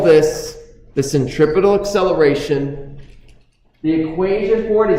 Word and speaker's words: centripetal: it's towards the center centripetal sounds like the word Center at all spots on this